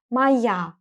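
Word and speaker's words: моя: use the form Maya pay attention to the pronunciation Maya the letter O is going to be pronounced as a because it's unstressed if we're talking about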